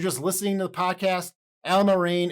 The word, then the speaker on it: Allamaraine: listening to the podcast Alma rain is spelled kind of like it sounds a-l-l-a-m-a-r-a-i-n-e so if you